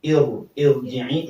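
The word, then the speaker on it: ارجعي: Irji'i meskipun ro kasroh sebelumnya sebelumnya huruf kasroh tapi bacanya tafkhim.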